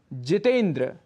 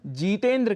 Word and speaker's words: जितेंद्र: जितेंद्र, यहाँ पर जीतेंद्र कह बैठते हैं, जबकि यहाँ पर शुद्ध रूप जितेंद्र है।